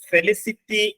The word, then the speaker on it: felicity: ഫെസിലിറ്റി അല്ല, ഫെലിസിറ്റി, FELICITY. നോക്കാം, ഫെലിസിറ്റി എന്നാണ് ആ വാക്കിന്റെ ഉച്ചാരണം.